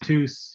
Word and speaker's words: Theus: Last name is pronounced Theus.